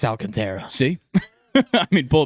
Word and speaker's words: Alcantara: But Sandy Alcant, is it Alcantara or is it Alcantra? Alcantra. Okay, I'm almost positive it's Alcantara.